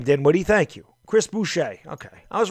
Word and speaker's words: Boucher: woody thank you chris boucher okay i was right the first time i said it but thank you appreciate that i figured that was a french name but lee i was